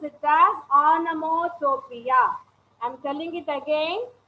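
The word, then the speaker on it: onomatopoeia: figure of spring speech anamotropia you have to pronounce it as anamotopia i am telling it again it is anamotopia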